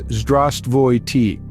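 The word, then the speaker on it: Здравствуйте: The most common Russian greeting is Zdravstvuyte, pronounced as Zdravstvuyte.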